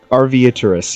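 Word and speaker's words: Arveiaturace: I think it's pronounced like Arviotris. Arviaturus, yes.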